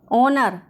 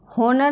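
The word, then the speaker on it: honour: ऑनर, इसमें भी H silent रहेगा। होनर नहीं पढ़ेंगे, इसको ऑनर पढ़ेंगे, एच साइलेंट है।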